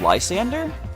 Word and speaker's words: Lysandre: Did you know, based on Generations, that Lysandre's name is actually pronounced Lysander?